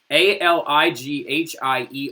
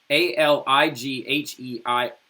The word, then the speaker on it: Alighieri: Now, his last name is spelled Alighhieri, all right? I'm going to say it one more time. Alighhieri. Dante Alighieri, right?